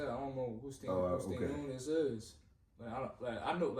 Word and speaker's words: Stanionis: Stanionis.